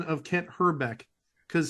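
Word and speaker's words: Hrbek: the pronunciation of Kent herbeck because he actually pronounced her back almost like Trebek can't her Beck Alex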